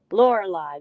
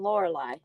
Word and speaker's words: Lorelei: Lorelei, that's how I learned to pronounce that. Of course, I'm not British. I'm not English either. I'm not Australian. So, American way is saying Lorelei.